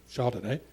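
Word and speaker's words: Chardonnet: point um a man called chardonnay pronounced chardonnay but not spelt chardonnay invented a machine to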